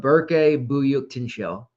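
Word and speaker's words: Berke Büyüktuncel: it this year um bur byuk Tino and you wouldn't think that because his last name is spelled by y or sorry buy UK Tu n c l i Haven tried to practice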